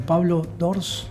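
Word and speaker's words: Pablo d'Ors: pablo es el nombre pablo sors así se pronuncian que el 80% de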